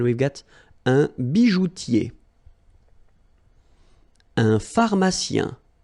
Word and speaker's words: pharmacien: Un pharmacien. So remember, P-H, so these combination of these two letters will produce the F sound.